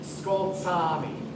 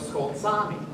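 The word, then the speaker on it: Skolt Sámi: Any guess where people speak Skoltsami? Give you a hint. Those 2 A's, they're both pronounced.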